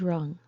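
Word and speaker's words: wrung: rang the bell has rung if you twist wet clothes or a towel to squeeze the water out you ring the water out the past is rung w-r-u-n-g Rack or rack if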